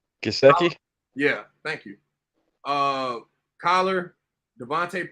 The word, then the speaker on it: Gesicki: I got Gasky, you always the tight end from Miami. I'll never say his name right. Gesicki?